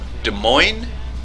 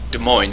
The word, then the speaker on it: Des Moines: the Des Moines so des moines Des Moines yeah the because the s in the des is silent and the S at